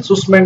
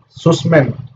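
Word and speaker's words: Sussman: तो नाम आता है फिर एक जॉयल सुसमैन का। जॉयल सुसमैन, ससमैन, जिस तरीके से आपको प्रोनाउंस करना उस तरीके से कीजिए, बट आपको लिखा सही होना चाहिए।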